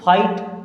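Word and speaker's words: fight: के समझिए जैसे देखिए अब अगर आई के बाद में जी एच आता है क्या आई के बाद में जी एच आता है तो जी एच हमेशा वहां पे साइलेंट हो जाता है जैसे देखिए अब एफ आई जी एसटी तो इनको आई की तरह उच्चारण करेंगे एफ से बना फा और इसके लिए लगाएंगे आई तो फाइट क्या हो गया फाइट आर से बना र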